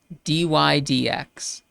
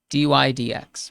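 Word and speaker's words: dy/dx: will pronounce this as d y d x d y d x we often don't say the word over d y over d x no we often just say d y d x and in from the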